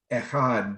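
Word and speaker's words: אחד: our sages said that we must draw out the word echad and you're supposed to draw it out on the last syllable which is really hard since it's a stop consonant i never understood that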